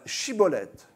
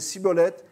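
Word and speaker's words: Schibboleth: dire vous allez dire euh chibolette chibolette et comme les gens d'epphraahim ne pouvaient pas prononcer le Che alors à chaque fois il disait siibolettes et c'était le signe et à chaque fois qu'un homme est éta arrêté qu' n'arrivait pas à dire chibolette qu'il disait cibolette cibolette CCK c'est fini pour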